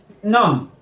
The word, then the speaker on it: numb: The B's there are silent every time.